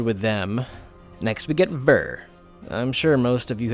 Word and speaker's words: Vor: is written as this that o is pronounced more like an e sound which is being